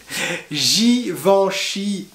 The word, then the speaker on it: Givenchy: a jasé chine est pas guy van chi givenchy givenchy ensuite on a d'autres marques très connues